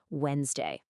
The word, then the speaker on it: Wednesday: And second, let's go back to our tricky friend Wednesday. Just remember that trick, it's only 2 syllables. Say it with me again, nice and slow, Wednesday.